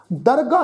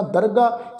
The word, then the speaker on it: दरगाह: दरगाह निभह, दरगाह शब्द आ ये हाहे जिहड़ा हाहा अखर मुक्त है, इन दरगे इस ढंग नाल उच्चारण नहीं करना। दरगाह साध संगत ये अरबी फारसी का शब्द आ। इसका जिहड़ा पाठ आ जिथे भी गुरु ग्रंथ साहिब की पावन बाणी चाहेगा इसे ढंग नाल करांगे।